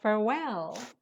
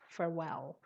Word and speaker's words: farewell: only one album but farewell the stress is on the second syllable and there are two l's farewell okay go on and